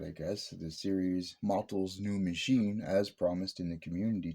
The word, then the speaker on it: Motel's New Machine: It is Motel's New Machine, not Motel's New Machine.